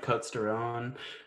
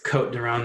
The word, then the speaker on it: Côtes du Rhône: Sometimes I can find like Côtes du Rhône or I think it's Côte du Rhône, the S is silent, but I'm American, dang it. So pronounce that S.